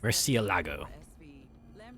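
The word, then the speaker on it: Murciélago: Murcielago. That's how you pronounce that.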